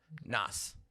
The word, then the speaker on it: Nas: It's like Nas. Nas. And they would say it with like a Z instead of an S. That's a tough sound for me. Nas. That's how it's said. Now his name is Nasir, so sure it's Nas, but it's Nas is the way you say it.